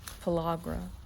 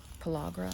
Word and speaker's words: pellagra: forgive me if I say this wrong but I want to say it's called palagra pellagra I think it is it's p-e-l-l-a-g-r-a and